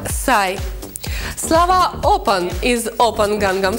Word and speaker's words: Psy: Псай, сокращенное от психа, произносится как «сай».